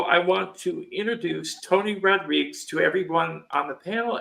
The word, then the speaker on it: Rodrigues: Everybody else that I've been watching interviews with you lately say Rodriguez, which is wrong. So I say Rodrigues.